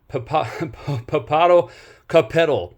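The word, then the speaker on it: Popocatépetl: I believe they're pronounced Ixtacoatl and Papado Capetal, excuse me.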